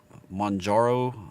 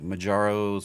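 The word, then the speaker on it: Mounjaro: they're competing with ozymbic it's Manjaro um keep wanting to say it like majaro's mask like Legend of Zelda but uh Manjaro coming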